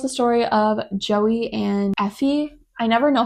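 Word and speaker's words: Aoife: This is the third book in the Boys of Tommen series, and this tells the story of Joey and Effie. I never know how to pronounce that name.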